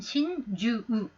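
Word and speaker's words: しんじゅう: 심중, 고코로노 나카, 고코로노 우치 의미인 경우에 신추라고 읽으셔야 돼요. 신추. 이거 그냥 신주를 읽게 되면 동반 자사라는 거죠. 한자는 똑같습니다만 고코로에다가 나카, 우치입니다만 고코로노 우치, 사람의 마음속이라면 신추입니다. 시인추우. 그 다음 동반 자살하는 것은 신주우.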